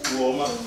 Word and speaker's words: Uoma: Uoma.